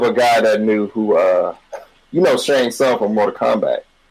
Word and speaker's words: Shang Tsung: That reminds me of a guy that knew who, Shang Tsung from Mortal Kombat. He would say Shang T Song. Like, no, you don't pronounce the T.